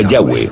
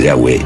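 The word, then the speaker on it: יהוה: Pensamos que probablemente se pronunciaba Yahweh o algo así.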